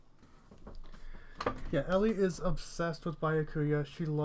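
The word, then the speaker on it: Byakuya: Yeah, Ellie is obsessed with Bayakuya.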